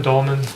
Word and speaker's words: Dolman: Okay, so first of all, is it Dolman? D-O-L-M-A-N. Oh, I just want to Dolman. pronounce it right.